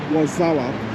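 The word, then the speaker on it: Warszawa: was like okay so that's actually how the polish pronounce it and they call it wazawa so wazawa is literally warsaw so that's um ozawa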